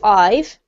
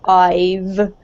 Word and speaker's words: I've: Now, David, when we have a word such as I've, try to pronounce it as written, right, rather than making it into I have, simply because it's more natural sounding.